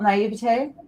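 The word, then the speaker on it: naïveté: A lot of people say naivety is okay. Naivete is also okay.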